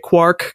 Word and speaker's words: quark: And so that was his justification for pronouncing it quark, because it's like quart.